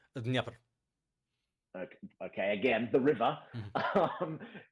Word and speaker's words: Dnieper: Dnipro? Dnieper.